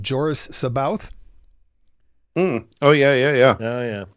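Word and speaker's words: Joruus C'baoth: he could be playing there are various different pronunciations of the character i'm going with what i recall to be the old audiobook pronunciation but joris saboth oh yeah yeah yeah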